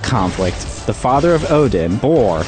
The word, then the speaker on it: Bor: So during that conflict, the father of Odin, Bor, Get it? Rhymes with defeats Thor.